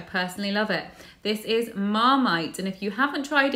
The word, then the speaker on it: Marmite: It is a very strong taste, but it's not said Marmite, as my ex-Italian boyfriend said. It's actually Marmite. Marmite.